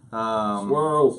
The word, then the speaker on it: Searles: For anybody who doesn't know, tomorrow at the shop of Fletcher Knives and Fiddleback Forge, Wasserl's Knives. Swirls. Yeah, Swirlsies. That's W.A. Searles.